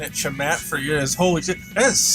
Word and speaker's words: Chamat: It's spelled C-H-A-M-A-T, but you pronounce it Jamate? If I'm doing that right. That's weird, why is it like that? That's so strange. That's a weird way to pronounce a C-H.